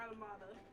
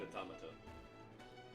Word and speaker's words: Automata: I usually do too, but apparently it's Automata, which makes sense because that's what you call automatrons. I wouldn't know. I usually say automata, but Automata is the correct way to say it.